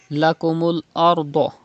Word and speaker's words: لكم الأرض: Lakumul ardo. You have to read Ra with thicker voice because there is Zabr before Ra Sakin.